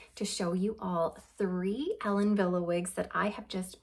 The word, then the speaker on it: Ellen Wille: briefly about the brand Ellen Villa so it is a German brand that's why it's pronounced Ellen Villa even though it's spelled